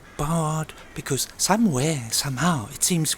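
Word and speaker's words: Baird: I read somewhere it should sound like bard, because somewhere, somehow, it seems we were discovered, or found, by a man called Beard, or Beard, or Bard, or whatever.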